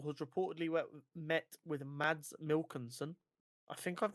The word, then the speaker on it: Mikkelsen: Marvel has reportedly met with Mads Mikkelsen. I think I've mispronounced that. Mickelson.